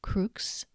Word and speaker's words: crux: C is pronounced as K in cat unless it's followed by E, I, or AE when it's pronounced as Ch, for example, crux, but cibus.